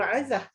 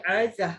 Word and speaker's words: 'Azah: Macam saya, nama saya Azah. Abah saya sengaja letak apostrophe dalam ejaan nama saya dalam Rumi. Untuk apa? Dia nak emphasize nama anak dia ni Azah, bukan Azah. Jadi Azah tu maksudnya mulia.